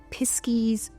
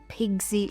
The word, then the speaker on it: pixie: Whilst they're most commonly known as pixies, there is a lot of variation in terms of the spelling and slight pronunciation of the name, because they're also known as piskies, pixie with a Y or an IE, Pizkie with a ZKIE, or Pigsy. Like, a lot of it's regional and it all kind of